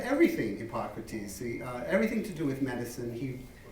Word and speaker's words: Hippocrates: Do you say Hippocrates? Hippocrates. Is correct? Yes.